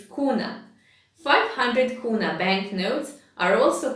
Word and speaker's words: kuna: Even 500 kuna bank... Kuna, I said kuna again, it's kuna.